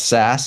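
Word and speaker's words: SaaS: Not that you're directly involved in software as a service, but that's SAS as it's normally sort of pronounced.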